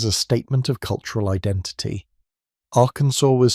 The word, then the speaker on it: Arkansas: The name comes from a French interpretation of a Native American word, and the proper pronunciation reflects that French heritage. So they made it official. The name is Aransur, and that is how it shall be spoken.